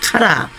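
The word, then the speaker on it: קָרָא: 카라 라고 읽는데 하나님께서 부르실 때는 구별이 되어 있어야 부르신다는 것입니다.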